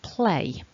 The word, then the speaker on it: play: see we've got um the a ending which is a double vowel sound a for play play so you should have some movement in your mouth when you're making that a vowel um if you try